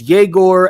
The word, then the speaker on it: Jaor: Uh, second guy up, Jaor. Joyman. Yes, that is how you pronounce his name. It's Jaor and then Joyman.